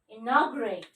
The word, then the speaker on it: inaugurate: INAUGURATE. Okay? 1, 2, 3. 3 hyphen, that means 4 division, 4 syllable.